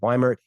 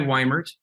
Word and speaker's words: Weimert: It's people say diesel and they know that it's the second vowel, but as soon as you switch the I and the E, everyone forgets that it's the second vowel you pronounce.